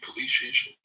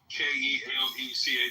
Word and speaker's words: Kelechi: Okay, I'm saying it wrong. I'm sorry. I'm calling you Kalishi. How you spell it? Kelechi, right?